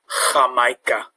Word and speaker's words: Jamaica: So, for example, the word for Jamaica, Jamaica. So it's got the H sound, Jamaica.